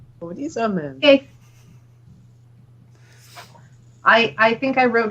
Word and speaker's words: Modizamem: Modizamem. Modizamem. Okay. I think I wrote down a lot more syllables than that.